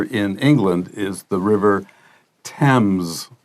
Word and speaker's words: Thames: 个 AME 的话，注意它有点像是 1、 2、 3、 4、 5 数字的 10，但是尾巴是用 M，所以是 Thames。好，这个地方要特别小心它的母音还有 H 不发音的部分。